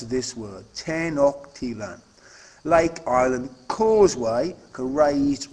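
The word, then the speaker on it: Tenochtitlan: comparison skills keywords are tenan that's how you pronounce this word tenan Lake IR Causeway a raised roadway out of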